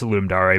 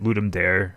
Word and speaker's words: Ludum Dare: popular ones I had always heard of was Ludum Dare which is pronounced Ludum Dare, but for simplicity's sake, I'm just going to call it Ludum Dare from here on out.